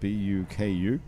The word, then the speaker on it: BUKU: BUKU. Spelled differently. It's spelled not like buku in French, but it still says BUKU.